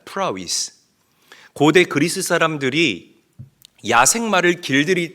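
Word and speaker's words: πραΰς: 여기서 말하는이 온유를 우리가 조금 더 분석을 해 보면 아,이 온유는 헬라어로 신약 성경에 헬라어로 프라위스라고 읽고 발음합니다. 프라스.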